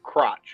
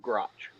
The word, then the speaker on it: Grotch: But I'm definitely calling him Crotch instead of Grotch.